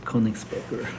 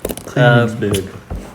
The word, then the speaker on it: Königsberg: Königsberger. Oh, you'd have to have German. Königsberg. Königsberg. I learned German for a while, so I kind of know. Yeah, seriously. I remember the guy, Königsberg.